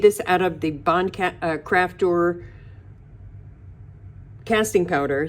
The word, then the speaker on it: Crafter: So I made this out of the Bond Crafter casting powder. Sorry, I had a brain cramp there because I pronounced it Craftor again.